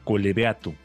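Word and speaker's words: Collebeato: En un municipio, un pequeño municipio que se llama Colebeato. ¿Lo pronuncié Ujú.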